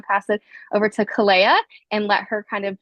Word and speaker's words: KOLAIAH: My name is KOLAIAH. I know the spelling is strange and throws people off, but that's how you say it.